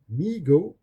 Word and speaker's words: Mego: Mego, pronounced Mego, Corporation was started by